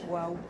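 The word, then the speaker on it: וָו: Il m'a dit, je peux prouver scientifiquement que la prononciation du Vav, scientifiquement, sans Emouna, par rapport à ça, que la lettre Vav se dit waouh.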